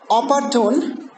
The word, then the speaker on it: opportune: So you see that the first one, the last one has a last one has a long vowel. So long vowel is of course stronger than the short vowel. Okay, but it is an adjective, and the same way it follows the rules of verbs.